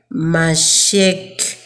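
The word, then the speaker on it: מָשִׁיחַ: When we look at the word Messiah, which first appears in Daniel, it is pronounced Mashek.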